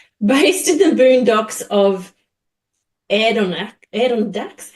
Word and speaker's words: Adirondacks: So based in the boondocks of Adirondacks. How do you even say that? How do you say where you live? A-D-I-R. Adirondacks.